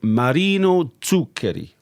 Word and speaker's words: Marino Zuccheri: So Yes, so we're going to look at a piece by Marino Zuccheri. That's a very good pronunciation.